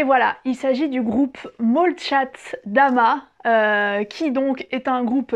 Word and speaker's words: Молчат Дома: vous allez me dire mais pourquoi elle dit Molchat Dama alors que c'est un O avant le M? Eh bien c'est parce que en russe, le O qui n'est pas accentué est prononcé comme un A.